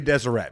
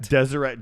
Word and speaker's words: Deseret: um okay this I'm desert is spelled how Deseret it's going to be Deseret Deseret Drifters okay dumb okay